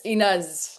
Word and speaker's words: Ines: Yeah, it's Inez. I would think, yeah, Inez. My mom It says Ines, but it's like with a in Norwegian, so it's like I go Inez.